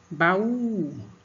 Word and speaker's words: baú: Então, o U é a sílaba mais forte que você pronuncia com mais força, né?